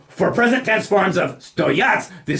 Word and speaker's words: стоят: Putting the stress on the first syllable of the word for cost, we wind up with eti batinki stoyat dorogo.